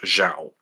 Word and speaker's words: Xiao: Um, just as a side note, uh, I'm pretty sure that's actually a, uh, that's pronounced Xiao.